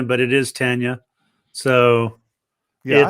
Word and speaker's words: Tanya: that that is the probably the most common pronunciation is people call her Tanya but it is Tanya so yeah it's a gotta give her respect